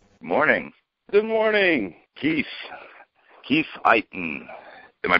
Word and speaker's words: Iton: Ado Keith Eon morning good morning Keith Keith Eon am I pronouncing your name right you pronounced it absolutely